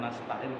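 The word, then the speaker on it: نستعين: bacanya bukan kaminya nastain kan kami astainu astain Oh iya jadi kalimat ini ini Apabila kita baca waqaf wakaf berhenti maka bacaannya adalah iyaka nabudu wa iyaka nastain nunnya di nunnya di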